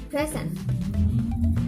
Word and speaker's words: present: Like the word of present. The present can be used by as a noun and verb. To know the difference is if present as noun, the pre is primary stress and sen is unstressed.